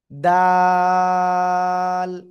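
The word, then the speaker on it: دال: দেখেন এবার, জিহ্বার আগায় এই দুই দাঁতের গোড়ায় লাগান, লাগিয়ে উচ্চারণ করতে হবে। দাল, দাল।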